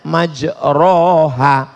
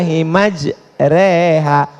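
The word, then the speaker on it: مجراها: email lah Bismillahirrohmanirrohim creehack tulisannya majroha Tapi bacanya miring bismillah imaj reha namanya Imam Al mall-mall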